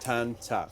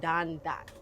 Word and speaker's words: tan tat: Tan tat. In Hakka, we say tan tat. I think the Cantonese say dan dat with a Okay.